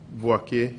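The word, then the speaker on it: Boakye: How do you spell that? B-O-A-K-Y-E. Boake.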